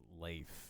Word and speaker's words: Leif: It's just a Leaf Ericson statue. Did you say my turn to finger you? off. And just for the joke, not to be impolite, but I believe it's pronounced Leif.